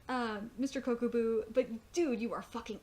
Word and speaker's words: Kokubu: And the look on Kokoku's face, I think I'm butchering his name right now, and it's really pissing me off.